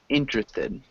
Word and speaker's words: interested: It's 3 syllables, interested.